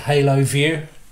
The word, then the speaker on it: Haloview: And it's a, I've heard this pronounced different ways, but I pronounce it Haloview.